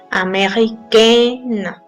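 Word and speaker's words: américaine: ser nasal America y con el femenino vamos a sentar más la n ameren y se va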